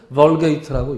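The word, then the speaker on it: Vulgate: 그 구약 히브리어와 헬라 신약을 라틴어로 번역한 게 이 불가타, 라틴어로는 불가타고 영어식으로는 벌게이트라고 읽습니다.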